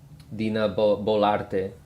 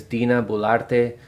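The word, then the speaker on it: Dina Boluarte: I don't want to mispronounce it. Dina Bolarte. Yeah, you see 85% disapproval rating for Congress, and then here's Dina Bolarte.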